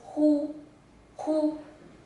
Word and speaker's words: 忽: this character is pronounced as whoo-hoo and it has two meanings the first one